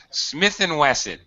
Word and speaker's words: Smith & Wesson: right the first time smith & wesson you would never say ampersand Smith Entwistle that's it so in English when you see this you say it's Smith & Wesson all right yeah that's